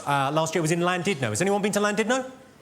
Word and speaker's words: Llandudno: This guy, front and centre, where you're sitting there, face like fucking thunder, went, "It's not Llandudno, you bloody fool. It's Llandudno. In Wales, the double L is pronounced with a C."